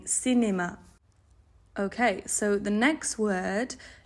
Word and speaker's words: cinéma: So it's not going to be cinema, it's going to be cinéma, cinéma. So if you have a go at practicing saying cinéma.